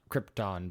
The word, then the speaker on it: Krypton: Everybody tells me our planet is pronounced Krypton, but I refuse. I say Krypton.